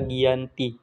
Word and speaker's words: Giyanti: Dinamakan Perjanjian Giyanti karena perjanjian ini terjadi di Desa Janti, yang mana dalam pelafalan bahasa Belanda, Janti dibaca Giyanti.